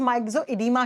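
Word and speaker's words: myxoedema: Cretinism, goitre, घेंगा रोग, माइक्सोडेमा, हिंदी में माइक्सोडेमा ही लिखा जाता है, प्रोनाउंस माइक्सोइडीमा किया जाता है इसको।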